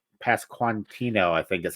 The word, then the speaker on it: Pasquantino: a young Anthony Rizzo and Vinnie uh P pasquantino I think is how you say his name